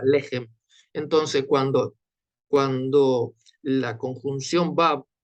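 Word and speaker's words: לחם: Nosotros no decimos lejem, sino lejem. ¿tá? Lo acentuamos en la primera sílaba, lejem.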